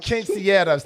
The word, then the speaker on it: quinceañeras: Quinceañeras.